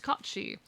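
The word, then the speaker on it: Cait Sith: I mean, the authentic way to pronounce it, it is primarily a Scottish myth, but it is also found in Irish folklore. The proper pronunciation is Kachi.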